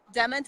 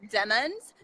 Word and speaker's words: Demmons: Demons is spelled DEMMONS. That is Demons, not demons.